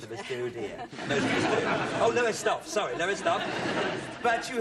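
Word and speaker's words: Lowestoft: new cosy yes is that the way you pronounce it new cosy in Norwich you come originally from lower stock yeah well most of us do de oh lowest off sorry lowest off but you have lived in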